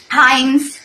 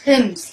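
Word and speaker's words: hymns: हिम्स कहे जाते हैं, HYMES, हाइम्स हिम्स, actual pronunciation हिम्स है, वहां पे उनको क्यों डाला गया?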